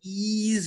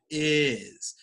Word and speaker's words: is: to asia to brazil it's it's saying wheel instead of will or ease instead of is so excellent job but